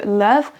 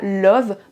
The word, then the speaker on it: love: C'est le cas par exemple de love, money and carrot qui ne se prononce pas love, money et carotte.